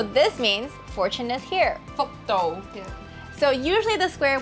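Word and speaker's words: 福: It's got this word "fuck," right? What the fuck?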